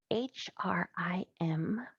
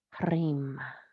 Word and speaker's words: Hrim: So the sound for this spaciousness is H-R-I-M, pronounced Hrim, Hrim, Hrim, Hrim.